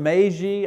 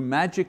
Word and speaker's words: Magi: The term magi, I think that's the, I've toyed with a lot of different pronunciations in English, looked at all kinds of books, you know. Magi is the closest one I can come to.